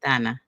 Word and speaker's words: Dana: Donna. Okay. Exactly. That's how you pronounce it in in Romanian. But yeah, English people still say Dana.